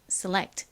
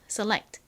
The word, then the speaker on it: select: 가장 끝에 T는 티소리트 소리가 나는데 이렇게 단어의 가장 끝부분에 오면 워낙에 약하게 발음되다 보니 select 이렇게 거의 잘 소리가 들리지 않아요.